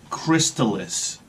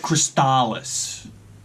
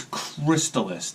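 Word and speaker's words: Crystalis: guys we got and this is how you pronounce it it's crystallis it's not Chris Tallis so everybody out there knock it off it's crystallis this is another game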